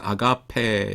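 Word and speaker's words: ἀγάπη: 사랑인데 이거는 뭐 모르실 분 없지만은 한 가지 조심하셔야 될 거라고 아가페라고 하지 마시고 요거 엡실론은 아니고 뭐냐면 장모음 M입니다. 그래서 아가페 약간 길게 발음하셔야 돼요.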